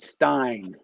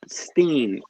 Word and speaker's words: Steen: I thought it was Stein, but it's Steen.